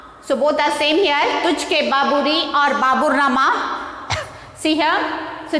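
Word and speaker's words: Tuzuk-i-Baburi: It is, how to pronounce this? Travelogues. And next you see here, T-U-Z-U-K-I-B-A-B-U-R-I. And okay, T-U-Z-U-K. Tujhke Baburi. Tujhke Baburi.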